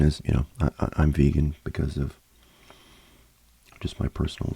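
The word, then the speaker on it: VGAN: next up we got I guess this is just pronounced vegan but VGA an is how it's spelled chocolate this um this is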